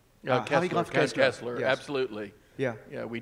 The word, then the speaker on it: Harry Graf Kessler: Harry Graf Kessler.